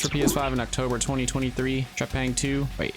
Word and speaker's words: Trepang: Released for PS5 in October 2023, Trepang2...